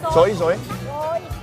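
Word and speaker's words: xôi: Soy.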